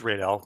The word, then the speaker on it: Radel: awesome oh okay and am i pronouncing your name incorrectly i feel like i am uh it's radel but it's fine it's close it's close